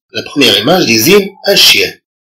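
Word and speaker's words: chien: كونتون برونونس لو مو شيان إسكو نونتون أو أون نونتون با لو صو ياه. إذا عندما ننطق كلمة شيان هل نسمع أو لا نسمع الصوت ياه؟ جنونتون بيان سور اون لونتون. اون لونتون يعني اننا نسمعه. اون لونتون لو صون ياه.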